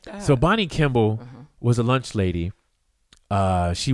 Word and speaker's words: Kimball: No, that's Kimmel for one thing. So you wrong on both ends. Why you say it like that? So Bonnie Kimball was a lunch lady.